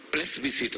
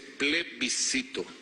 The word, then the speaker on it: plebiscito: forma eran un plebiscito pres visitó no se dice así se dice plebiscito play visitó qué fue